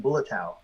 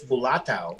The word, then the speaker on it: Bulatao: Because I'm so used to saying Bulatao, you know, yeah. but it's Bulatao.